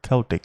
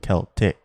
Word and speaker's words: Celtic: circle or celtic cross remember celtic is pronounced celtic and not celtic the mystical swastika the